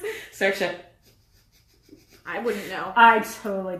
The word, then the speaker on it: Saoirse: How did you pronounce it? Saoirse.